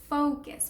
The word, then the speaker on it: focus: And so it is focus. For those Spanish speakers who are learning this word, never say what I said earlier. Say focus. And so here's how you say it. The first syllable, it's fo, and it's fo, fo, fo. Not fa, it's fo. Second syllable is kiss. It's a K and then a schwa sound.